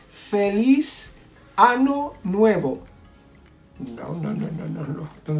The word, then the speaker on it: año: Año. Año means year. But what happens if you confuse it and instead of año, you say ano?